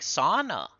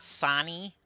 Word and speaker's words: Sana: She had just corrected me once, like Sana. Just had to correct me once, and I never said it wrong again. Sometimes you gotta ask. It's not It's not Sani.